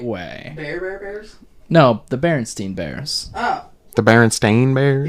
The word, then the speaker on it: Berenstain: The Berenstain Bears. I watched the Berenstain Bears. Shut up. Yeah, it went up like 9. No, it's actually pronounced Stain.